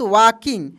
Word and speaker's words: walking: देखिए यहाँ पे WALKING, इसको पढ़ेंगे मेरे दोस्त वॉकिंग। क्या पढ़ेंगे? वॉकिंग। वॉकिंग नहीं पढ़ेंगे, यहाँ पे L साइलेंट रहेगा, इसको हम लोग वॉकिंग पढ़ेंगे।